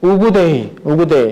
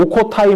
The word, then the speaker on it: 우구데이: 우구데이, 셋째 아들이었던 우구데이. 예전에 이걸 오코타이 뭐 이렇게도 불렀는데 몽골식 발음으로 우구데이가 몽골식 발음에 좀 더 가깝답니다.